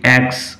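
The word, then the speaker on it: aches: ওয়ান of them is loose and ইট অ্যাক্টস অফুলি। ওয়ান of them is loose, একটা দাঁত আলগা হয়ে গেছে। অ্যান্ড ইট অ্যাক্টস, উচ্চারণ লক্ষ্য করো, এইচ নয়, সিএইচ এখানে ক উচ্চারণ হবে। ইট অ্যাক্টস অফুলি, এটাতে ভীষণ যন্ত্রণা হচ্ছে।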